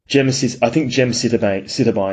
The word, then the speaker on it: gemcitabine: So this organism was stopping the effect of a drug called, gemcitabine is how you pronounce it.